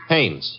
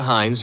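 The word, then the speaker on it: Haines: No, no, not Hines. Hannes. Couldn't be. Honeyberg. No, it couldn't be. The name is Hannes.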